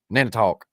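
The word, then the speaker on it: Nantiinaq: Nanitok. Right. Nanitok. Nana talk. The Nan don't talk.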